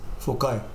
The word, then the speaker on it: foci: Okay, so pronunciation of foci is foci.